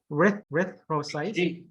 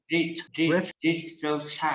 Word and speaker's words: erythrocytes: Erythrocytes. Erythrocytes. So the th, when you pronounce the th, it's your tongue should be in the middle of your teeth.